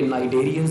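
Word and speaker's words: cnidarians: इसके बाद फिर टिश्यू लेवल ऑफ ऑर्गेनाइजेशन है, और इसमें रेडिएटा यानी कि नाइडेरियंस दिखाए गए हैं, सी साइलेंट है।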